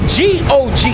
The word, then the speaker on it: Gog: the book of Ezekiel, and it's spelled G-O-G, not G-O-D, because they might have thought I said God. It's Gog, G-O-G.